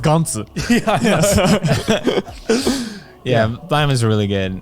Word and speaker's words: Gantz: I mean, in Japanese, it's pronounced Gantz.